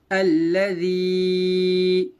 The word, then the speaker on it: الذي: ہجے دیکھیے اس کے, حمزہ لام زبر ال لام زبر لا اللہ ذال یا زر ذی الذی. لام کے اوپر تشدید ہے, تشدید والے حرف کو 2 بار پڑھتے ہیں, ایک بار پیچھے والے